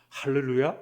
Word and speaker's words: 할렐루야: 근데 이렇게 주님을 찬양하라는 이 할렐루야를 조금 더 발음을 잘 하려면 사실은 렐이라는 이 두 번째 글자가 약하게 발음되어야 됩니다. 정확한 발음은 잘 모릅니다. 하지만 렐과 를 이 중간 발음입니다. 그래서 할렐루야 이렇게 발음해야 됩니다.